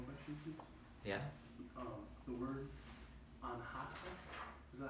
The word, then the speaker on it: anatta: The word anhata, is that how you pronounce it? Myself? Anatta.